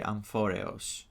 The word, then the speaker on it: Amphoreus: Now the planet Anforius is if you pronounce it in Greek, you would say Amphorio.